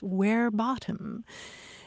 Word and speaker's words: verbatim: talking about quoting somebody verbatim because in Latin it's where bottom and uh we shouldn't